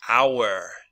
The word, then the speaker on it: hour: Grandfather, grandfather, happy, happy, hope, and if it's a verb, hoped, hoped, good, hour, hour, and the homonym is hour. Okay, so H muda en inglés, muy rara.